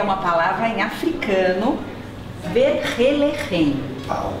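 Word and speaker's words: Vergelegen: Eu sei que o nome é bem difícil de pronunciar, o nome dessa vinícola. Você sabe? É uma palavra em africano, Verhelerhen. Verhelerhen.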